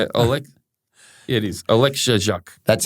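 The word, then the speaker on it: Oleksiejczuk: Oleksiak.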